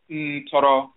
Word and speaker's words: ntoro: People don't know if it's netter or nutur, or they don't know how to pronounce it because the vowels aren't listed, but we still use the term as ntoro in Akan.